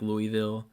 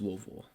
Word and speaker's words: Louisville: come if you're not a native of Louisville and you come in here and say like Louisville yeah or something well no people don't like that I I really don't care but um it's pronounced Louisville it's really besides the point